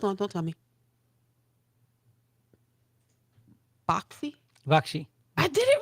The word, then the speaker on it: Baxi: Bakshi. I did it right. You did great. I want to say boxy, but it's boxy. Bakshi.